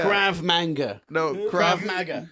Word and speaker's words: Krav Maga: Crab manga. Krav manga. No, Krav Maga.